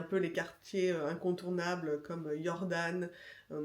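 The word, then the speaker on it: Jordaan: Évidemment, il y a un peu les quartiers incontournables comme Jordan, qui s'écrit avec un J, hein, le J se prononce IA en néerlandais.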